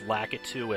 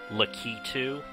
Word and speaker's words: Lakitu: Super Mario videos where people will turn out lakitu as lucky to Absalom that's always one